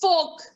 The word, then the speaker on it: fork: Okay, it's folk. It's folk. R is silent over here. It is folk. It's not fork. It's not fork. Because R is there, you would have told that it is fork.